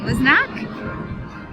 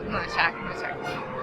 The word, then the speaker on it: Mlynczak: Mlynczak. Depends on if you're doing it with the proper Polish vernacular. Polish. Yeah. There you go. It's a little more guttural than I'm used to, being just, Jansen.